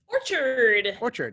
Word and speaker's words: Orchard: Liz, I know you did a preview, I think, for this one, but Orchid Orchard, how do you pronounce that? Orchard.